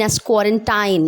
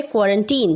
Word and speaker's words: quarantine: this quarantine time and do not pronounce quarantine ascore in time that is wrong okay you have to say quarantine so bye-bye all the